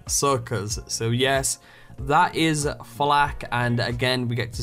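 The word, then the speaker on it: FL4K: But moving on, we now have Flak as the Beastmaster, and Flak there is spelled F-L-4-K.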